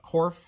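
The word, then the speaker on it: Corfe: to take a train to the town of korf that is spelled c-o-r-f-e the korf castle is a very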